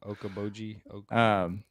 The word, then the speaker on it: Okoboji: I can't pronounce it. Okeechobee. Yeah. Okeechobee of the North. Is that what it's called? Okoboji.